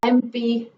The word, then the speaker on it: MP: Then for abbreviations like MP, an MP, MP, M. So the M, whenever you say, it is EM, M, isn't it?